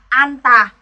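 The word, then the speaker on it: 앉다: À, cặp này phát âm theo phụ âm trước, tức là mình sẽ phát âm theo phụ âm niên. Mình đọc là an tà.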